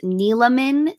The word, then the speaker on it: Neeleman: And yes, it is pronounced Neeleman, 3 syllables. The E is not silent.